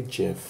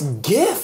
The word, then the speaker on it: GIF: - the tea why would you even say Jif I don't know the English language is so